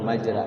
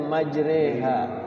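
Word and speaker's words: مجراها: gitu Kay Serang ya maj bukan majra maj Tapi bacanya majreha saya diajarin sama guru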